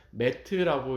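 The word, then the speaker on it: מת: 진리를 뜻하는 이 세 개의 히브리어 철자 가운데 맨 앞에 나오는 첫 번째 철자인 알렙이 빠지게 되면 mem타부 해서 그냥 메트라고 이렇게 발음하게 되는데 이것은 히브리어 단어의 죽음을 뜻합니다.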